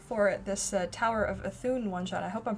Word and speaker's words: Ethune: so welcome everyone for this uh tower of athun one shot i hope i'm pronouncing that right yep great so we'll go